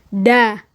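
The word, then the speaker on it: dağ: Douan misal da gunung ya da da bukan dak tapi da misal ada nama orang tuba.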